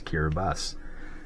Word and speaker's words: Kiribati: a TI and again the ti is pronounced like an S there's kiras and actually I think